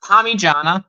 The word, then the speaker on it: Parmigiana: It's pronounced Parmigiana.